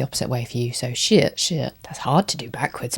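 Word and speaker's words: 谢谢: And it's the tone down, so shit shit. Just realised that's probably the opposite way for you. So shit shit.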